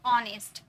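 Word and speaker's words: honest: silent हो जाते हैं ऑनेस्ट अब एच हम लोग यूज किए क्या यहां पर नेस्ट बोले क्या नहीं एच साइलेंट है एच चुप होकर बैठा पड़ा है ओ से हम स्टार्ट किए ऑनेस्ट आव आव बोले हावर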